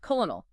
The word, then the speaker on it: colonel: And crucially the French pronounced it just like it looked. Colonal. Three syllables pretty close to the Latin root columna meaning column.